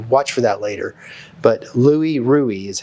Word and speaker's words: Louis Ruhe: him so you'll watch for that later but Louie ruie is how they pronounce his name and that's that's it that's